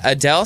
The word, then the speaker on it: Adele: than usual because apparently we've been saying Adele's name wrong, and Adele said it. You actually say it, Adele. Like hey, well, I feel like we're going to go see that Adele concert. it's sounding more, country, but when she says it, obviously it sounds more British.